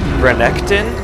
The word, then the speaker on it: Renekton: is actually the day that the new champion renekton I believe that's how you pronounce his name he just came out today